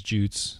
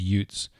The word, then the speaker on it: Jutes: Danes and kill kanaev that's Jutes some pronunciations of it the the English pronunciation is Jutes some of the more Scandinavian as youths in the ensuing fight